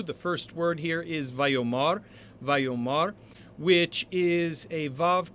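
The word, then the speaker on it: ויאמר: mar and so when the stress shifts to the ultimate syllable or the final syllable the original a returns and so we will translate this vayomar vayomar now the accent that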